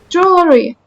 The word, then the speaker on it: jewelry: it I remember no you you need to completely take away the W the W is completely confusing me with the pronunciation I cannot pronounce the W the W is evil you know only taking 8 years what do you mean only taking 8 years Jew jewelry no I learned up it's like Joel e you know like